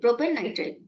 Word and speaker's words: propanenitrile: We will pronounce it in this way, propanenitrile. The E is retained.